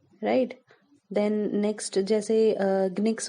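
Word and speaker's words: nginx: Then next जैसे ग्निक्स हो गया, GINX, राइट? जिसका N साइलेंट होता है.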